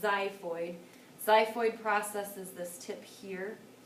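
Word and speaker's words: xiphoid: zyo it starts with an X but it's pronounced zyo Zid processes this tip here if you take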